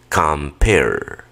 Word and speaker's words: compare: Esa e simplemente se pone pero nunca se pronuncia, como te lo he explicado en las clases de pronunciación. Repite conmigo. Compare, compare, compare.